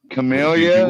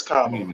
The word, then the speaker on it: Kamala: Camellia? What did you say? Yeah, well, Camellia like Dahlia would work, but it's Kamala.